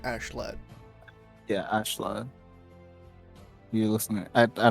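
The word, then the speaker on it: Askeladd: ashleigh i believe it's it's spelled like ask a lad but they pronounce it like ashlet yeah ashlan listening i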